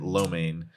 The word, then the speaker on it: lo mein: Lamaine, Lamaine? Yeah. Is it pronounced lamaine? I typically hear it lo mein. Lamaine. You would. You're lo mein. If you say it fast, it's lamaine.